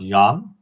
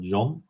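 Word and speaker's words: Jan: So in Holland they say Y, not Yan, but Yon, but everybody calls me John.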